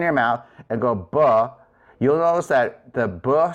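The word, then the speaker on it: β: For the labials, that's a beta. So if you were to try this, say buh in front of your hand.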